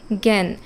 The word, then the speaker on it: জ্ঞান: বা শেষে একরকম তো শব্দের প্রথমে যখন এই যে জ ইয় এই যুক্তবর্ণটা বসে তখন সেটার উচ্চারণ হয় গ তাই না যেমন জ্ঞান এই যে জ্ঞান আমরা যখন লিখি সেটি কিন্তু আসলে উচ্চারণ হচ্ছে জ্ঞান গয় জ ফলা আকার আর একটু লক্ষ্য করলেই দেখবে যে এখানে একটু নাসিক্য প্রভাব আছে অর্থাৎ চন্দ্রবিন্দুর একটা অস্তিত্ব থাকবে কাজেই এই যে যেখানে